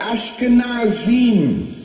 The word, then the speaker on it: Ashkenazim: Anybody listening to me, please do the research on the word Khazar, and if you have something to write with, that's spelled K-H-A-Z-A-R-S, Khazars, and Ashkenazim.